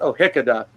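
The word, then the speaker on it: Ó hÍceadha: And it's like, it's O'Hickada, which is Gaelic for the last name of Hickey, which is my traditional family name.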